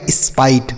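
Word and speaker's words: spite: जैसे य से हो गया आधा श और पी से प तो यह हो गया इस्पा। आई टी ई को हमने बताया आई। तो इसको मिला के बनेगा स्पाइट।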